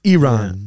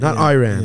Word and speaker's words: Iran: And the reporter said, well, first of all, you pronounce our country's name wrong. It's Iran, Iran.